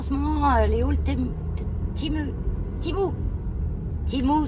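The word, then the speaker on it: Temu: Timou, ça se dit, pas Tému, c'est Timou. Enfin, pas prononcer la française, quoi, on prononce l'américaine, c'est un site américain.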